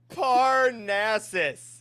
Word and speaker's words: Parnassus: Parnassus. Parnassus. Parnassus. Oh yeah. Parnassus. That's what I was gonna say next. Obviously. It rhymes with molasses.